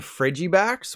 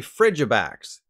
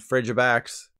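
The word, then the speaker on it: Frigibax: digimon called frigimon so I called the baby ice dragon Freddy backs when it's actually frigid backs frigid fridge backs it kind of makes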